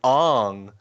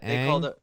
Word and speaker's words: Aang: Night Shyamalan movie where it's like Ong. It's like they called him Ong instead of Aang.